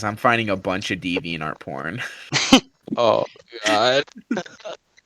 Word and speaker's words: DeviantArt: finding a bunch of deviantart porn oh god is that how it's pronounced deviant art i always call it divine art it's the divine art